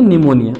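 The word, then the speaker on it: pneumonia: अगली बीमारी है निमोनिया। स्पेलिंग याद रखना। पी से स्टार्ट होती है निमोनिया की स्पेलिंग।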